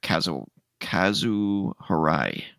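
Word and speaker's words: Kazuo Hirai: He replaces, Kenichiro Yoshida, who served as CEO of the company since April 2018, succeeding Kazu Harai.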